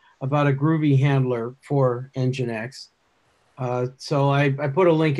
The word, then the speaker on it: nginx: It looks to me like Nginx or Nginx. Nginx. Engine like a car engine, and then X.